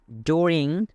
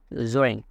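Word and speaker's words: during: ডুরিং এটার একটা সঠিক উচ্চারণ হচ্ছে যারা ব্রিটিশ তারা প্রনাউন্সিয়েশন করে, সঠিক উচ্চারণ করে জোরিং, জোরিং।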